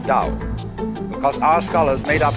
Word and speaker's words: Tao: pronounce it t but if there is no apostrophe you pronounce it Dao because our Scholars made